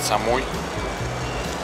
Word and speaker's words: Самуи: Короче, Самуи. Либо, как некоторые говорят, Самуй. Все по-разному.